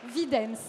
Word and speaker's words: Videns: Videns, c'est mieux prononcé.